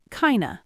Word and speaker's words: kind of: Kind of becomes kind of. It is kind of cold becomes it's kind of cold. The f drops off the word of and we're left with a lazy schwah. Kind of.